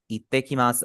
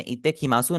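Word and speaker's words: いってきます: यहां पर सों में हमारा जो उ है फाइनल ये हमारा साइलेंट होगा। तो ये भी आपने याद रखना है। आपने इतेमासू नहीं बोलना। ठीक है? आपने बोला है इतेकी मास वो आपका बस समझे आपके उ आपका रिमूव हो गया है।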